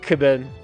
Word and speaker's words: Cubone: A Cubone. Everybody knows what I'm talking about. Well, everyone pronounces it wrong. It's pronounced Cubone. Cuban, like Cuban cigars. Like Mark Cuban.